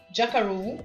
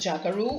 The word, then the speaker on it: jackaroo: Jackaroo é uma curiosidade, um termo que é bem utilizado lá. Alguns chamam de jackaroo, outros chamam de jackaroo. As duas pronúncias estão certas.